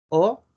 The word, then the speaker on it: Haut: Acá tenemos un vino que se llama Chateau Haut Bio. O Bio. Recuerden que la A y la U hacen una O y Bio, ¿no? La T no se pronuncia.